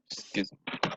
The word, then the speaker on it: Schism: Schism. And so. Can you spell that?